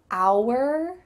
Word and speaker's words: our: How do you say this word? Is it our? Our? You might hear this in kind of slower, clearer speech, but in fast conversation, it just sounds like the letter R.